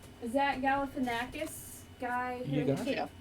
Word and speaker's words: Galifianakis: Zach Galifianakis guy.